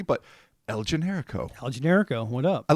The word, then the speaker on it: El Generico: I should have emphasized the co because it's capital C, but El Generico.